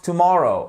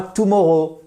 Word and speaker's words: tomorrow: Et pas tomorrow. Non, tomorrow. Tomorrow. Vous voyez, vous avez votre accentuation. Je vous parlais de ce fameux accent tonique ici. Là, c'est sur la deuxième syllabe.